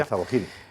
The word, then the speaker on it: Al-Zawahiri: Que tú me corregirás, Esparza, cómo se pronuncia. Al-Zawahiri.